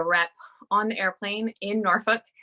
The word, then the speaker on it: Norfolk: on the airplane in Norfolk yes that's how you say it Norfolk a lot of people